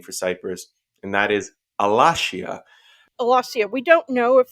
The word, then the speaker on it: Alashiya: You would have the SH sound in Semitic, but not in Indo European. So I tend to spell it with the Shin character, but I pronounce it Alashiya.